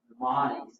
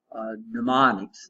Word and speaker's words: mnemonic: So what they do is they assign these things these little mnemonics. Now mnemonic starts with an M, even though we start with, so the M is silent.